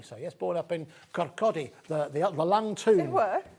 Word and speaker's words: Kirkcaldy: Yes, born up in Kirkcaldy, the Lang Tomb. They were? Kirkcaldy, to pronounce it kind of correctly, or Kirkcaldy if you're south of there.